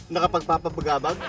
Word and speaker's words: nakapagpapabagabag: Can you pronounce the word nakapagpapagnapagnapag? Nakapagpapabagabag?